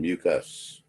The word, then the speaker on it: mucus: two terms, mucus and mucus. They're pronounced exactly the same, but you see they're spelled differently.